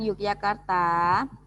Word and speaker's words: Yogyakarta: Bacanya tulisannya Y tapi dibaca J ya.